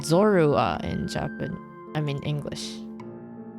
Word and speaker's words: Zorua: um the spelling but in Japanese it's zodowa so it wouldn't be the same it's pretty close I